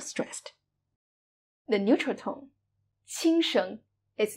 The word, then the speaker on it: 轻声: We call this kind of syllable the neutral tone or the light tone. 轻声.